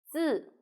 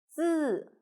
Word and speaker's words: 字: 字 Pay attention, your tongue is flat. 字 Very good. Now let's write it together. 我们一起来写。点横折横撇竖钩横字 means written Chinese character.